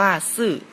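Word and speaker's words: 四: สุด ครับ ปิด ครับ ภาษา จีน อ่าน ว่า ซื่อ แปล ว่า เลข 4 ครับ ต่อ ไป นะ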